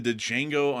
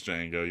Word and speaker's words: Django: I think the D is silent. Oh, whatever. Like, I don't care. Come on, Like, Django. The Django. How to pronounce the Django? Like, man, it is Django.